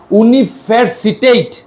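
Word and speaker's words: universiteit: টেলিফিজি টেলিফিজি মানে টেলিভিশন তারপর কি উতে কি উনিফারসিটেট উনিফারসিটেট মানে কি ইউনিভার্সিটি উচ্চারণটা করেন একবার একটু দেখে দেখে উনি ফসিট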